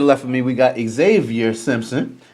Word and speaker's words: Zxavier: It's Zxavier. Really. Zxavier. It's French. Xavier. That's Xavier. how you pronounce it.